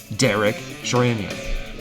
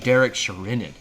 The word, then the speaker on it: Derek Sherinian: everyone got to hear the brand new keyboardist Derek Sheran. Okay, how about Derek Sherinan for you pronunciation nerds?